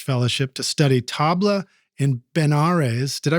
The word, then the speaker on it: Benares: The Smithsonian Institution awarded him a postdoctoral level research fellowship to study tabla in Benares. Did I pronounce that right? Benares, yeah. Benares, India, with Pandit Sharda Sahai.